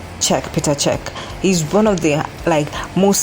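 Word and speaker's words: Čech: They gathered to protest, and even Peter Cech, I think it's pronounced Cech, former Chelsea goalkeeper, had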